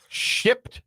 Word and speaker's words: Shipt: I really got to pronounce that P. Shipt. It's S-H-I-P-T?